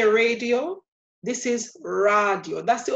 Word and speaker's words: radio: So this becomes radio. We look at the end, it ends with a vowel. So that tells us that we put the stress on the second to last syllable.